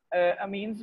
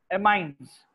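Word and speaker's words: amines: इस फैमिली को हम कहते हैं एमाइन्स, ठीक है, अमीन जो है, अमीन्स भी कहा जाता है, एमाइन्स, लेकिन इसको more appropriate word pronunciation is एमाइन्स।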